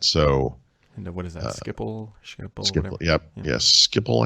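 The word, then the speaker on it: Schiphol: Skipple? Skipple. Yep. Yeah. Yes. Skipple. I think they call it Skipple. I think I always said sheeple, but I think it's Skipple.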